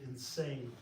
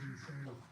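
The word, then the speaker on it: Insein: were talking about the prison in the prison insane and insane prison. That's how it's spelled. That's how it's that's all. I N S E I N. It is insane.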